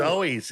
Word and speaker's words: Zoes: We're gonna be playing with the Zoes or the Zooies. I'm not really sure how to pronounce it. I've seen them. It's the Zoes.